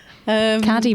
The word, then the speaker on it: Caddy: Caddy rhymes with Paddy.